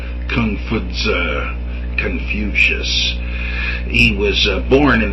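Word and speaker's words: Kong Fuzi: It was founded, of course, by Confucius, but that is a Latin version of the Chinese. If any of you speak Chinese, be prepared to go into hysterics at how I am mispronouncing this. I assure you accidentally. Confuzi, if you want to spell it out, Kung-Fu-TZE, which means philosopher Kung or master Kung.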